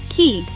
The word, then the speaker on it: quay: Key, just like a door key.